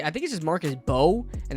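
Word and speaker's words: Marcus Mbow: Marcus, uh I don't know how to say I think this is Marcus Bow and the M is silent, but Marcus Bow is a guy that's um pretty interesting.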